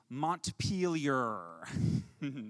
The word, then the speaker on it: Montpelier: no no no no we the the correct pronunciation is montpelier yes of course right right um and uh